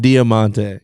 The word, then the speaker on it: Diamante: Diamante.